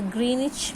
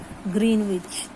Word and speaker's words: Greenwich: Now, next topic is the Greenwich Mean Time. I told you that don't pronounce it as Greenwich.